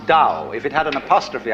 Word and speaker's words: Tao: of of organic growth they call Dao that's pronounced Dao if it had an apostrophe after it it